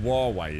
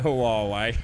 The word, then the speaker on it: Huawei: got it yeah yeah huawei is that is that just it's not just how you pronounce it it's actually just huawei is it i'm sure you'll call it hawaii so it's it's actually a lot a lot less syllables than i thought it's just huawei i